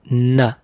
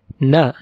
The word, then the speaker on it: ن: Our last letter for today is ن ن. It's like N in English.